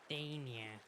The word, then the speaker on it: Dania: Dania. I just call her Danny. I can never pronounce her name right. Dania. Danny. Dania. Yeah, Dania? Right. Fuck it, Danny. Danya. That's it.